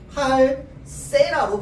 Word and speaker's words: 할세라: 자, 발음할 때는 어떻게 발음해? 할세라로 발음해야 됩니다. 발음은 이렇게 해야 돼요. 할세라는요, 발음할 때 할세라로 발음해야 돼.